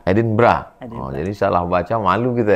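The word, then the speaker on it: Edinburgh: Ditulisnya Edinbur. Tulisannya Edenbur. Cara bacanya Edinbra. Edinbra.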